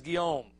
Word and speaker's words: Guillaume: Guillaume. All right, French last name, man. I don't know. It's spelled Guillaume, but he says Guillaume.